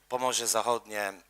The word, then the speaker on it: Pomorze Zachodnie: Obviously, Pomorze Zachodnie, which is West Pomeranian region, that's Polish pronunciation of that, and Polish logotype, on the